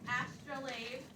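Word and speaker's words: astrolabe: On the back side, we pronounce that word astrolave. And it sounds like what word?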